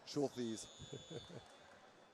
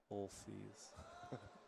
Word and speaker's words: Schulthes: I got to write that one phonetically. Schulthes. I don't know how you would write it phonetically. S-H-O-O-L. Schulthes.